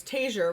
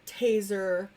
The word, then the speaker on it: Taziar: His last name is Taziar, which nobody ever can spell, say, pronounce. So now you know how to pronounce it if you watched our live stream. Yes. But we always get Taziar, Taser, which, hey, I wish we got royalties off